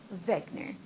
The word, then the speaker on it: Wegener: He is German, so the W is a V. Wegener.